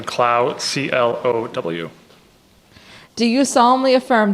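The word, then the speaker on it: Clow: the record please State your full name and spell it out first name b-r-i-a-n last name klau c-l-o-w do you solemnly affirm that the evidence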